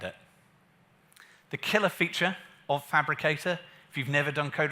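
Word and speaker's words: Phabricator: It's written in PHP, so Fabricator is spelled PH, and then the rest of Fabricator.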